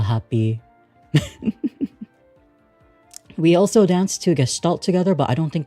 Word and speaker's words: Gestalt: I'm pronouncing it as Gestalt because that's kind of how it's pronounced.